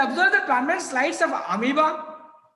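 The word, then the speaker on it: amoeba: the per sles of amiba see pronunciation amiba not amoa amiba parium and clamas spelling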